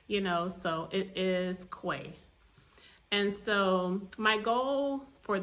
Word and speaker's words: Cuay: I say it you know so it is Quay and so my goal for this word is